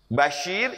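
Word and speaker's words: بشير: yang membawa kabar gembira Yuk Kita bedakan Basyir dengan Basir betul Berarti ada dua di sini Yang kalau kita tidak teliti membacanya akan akan kedengarannya sama Basyir basyirun kedua basirun ini Sin ini Shad Basyir ini dari kata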